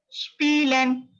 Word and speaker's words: spielen: Note down, IE. You have to pronounce as E. So try to read it. Try to read it. Spielen, spielen, spielen, to play. To play, it's called to play. Spielen, spielen, right? IE sound like E, E.